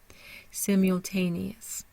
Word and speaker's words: simultaneous: one syllable by itself simultaneous so we start with the primary stress in the third syllable T Sim has a secondary stress so it's strong but